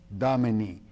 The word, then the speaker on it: Domini: Lord that's how you say it I know Domini the year of our Lord which the Lord